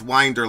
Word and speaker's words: Windir: frozen but it's not Dwayne is saying it's pronounced Winder like binder I don't think so